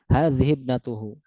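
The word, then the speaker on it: وهذه ابنته: Dan hamzahnya di sini sama dengan ibnun tadi. Dia tertulis tapi tidak terucap. Makanya disambung langsung hadib hadibnatuhu ya tiib.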